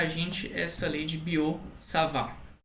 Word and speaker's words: Biot-Savart: gente essa lei de Boo salvar é compra dois francês que você não pronuncia nenhum ter no final de cada um dos não sabe ou